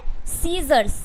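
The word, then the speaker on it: scissors: क्या हो जाएगा साइंस उसके बाद क्या है सीजर्स सीजर में भी ए सी का एस के बाद आया सी का उच्चारण नहीं हो रहा है उसके बाद क्या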